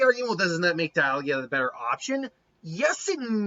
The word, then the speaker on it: Dialga: You have either Dialga, oh jeez. It's Diamond and Algia, I think. So it's Dialga.